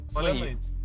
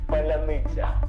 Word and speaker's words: паляниця: Ну, типу, ржали з того, що росіяни не можуть просто вимовити слово. Если получится, давай еще раз. Поляныця.